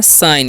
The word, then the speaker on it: sign: ठीक है, तो यहाँ पर SIGN है, तो इसे हम पढ़ते हैं साइन। इसे साइगर नहीं पढ़ना है, यहाँ पर जी साइलेंट है।